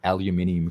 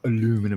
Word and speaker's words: aluminium: ] that's right i'm i am determined to teach mrs parker how to say aluminium correctly it's not aluminum it's al um i'll um